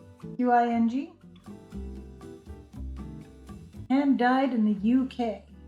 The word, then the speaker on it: Qing: This is a beautiful silky merino single in the colorway Narwhal by, I think it's pronounced Qing Fiber, Qing, hand dyed in the UK.